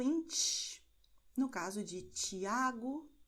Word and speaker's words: Tiago: TS, no caso de Tiago, noite, ok? E o som é o mesmo que você tem no italiano quando você diz tchau, ok?